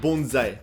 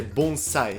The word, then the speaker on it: bonsai: Ah, bonsai! Je ne comprends pas pourquoi tous les Français appellent ça bonsaï, alors que c'est bonsai.